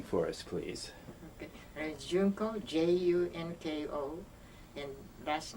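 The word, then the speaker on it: Junko: JUNCO, well, first of all, would you spell and pronounce your full name for us, please? Okay. JUNCO, J-U-N-K-O, and last name, M-A-T-S-U-M-O-T-O.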